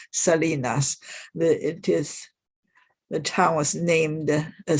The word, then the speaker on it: Salinas: If you are an American, you would say he lived in Salinas, but if you're a Mexican living in California, you would certainly pronounce it Salinas.